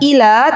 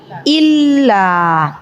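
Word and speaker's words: إلا: taala ya baik jadi tadi bukan Ila tapi illa Ya baik ibu-ibu yang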